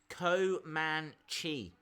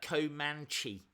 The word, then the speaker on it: Comanche: so annoying to be around Alabama fans ok Co man Chi it's a Native American tribe I kind of